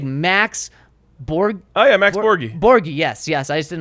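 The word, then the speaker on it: Borghi: Oh yeah, Max Borgi.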